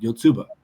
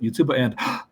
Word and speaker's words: Yotsuba: One of my favorites to use for English language learners was a manga series called Yotsuba. Actually, it's Yotsuba and then an apostrophe and exclamation points. I always pronounce it Yotsuba and it's about a